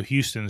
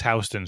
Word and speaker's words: Houston: Well, in New York, the example would be there's no Houston Street; it's Houston Street, Oh, you got it.